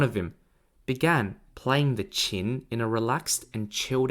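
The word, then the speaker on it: qin: and waited as two orderlies brought him a chin to play chin is spelt q-i-n and it is an ancient chinese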